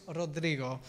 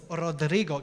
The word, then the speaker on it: Rodrigo: Rodrigo. Can everyone say Rodrigo? No, I want to see some passion in there. Some Rodrigo. Can everyone say Rodrigo? Can you roll your R's?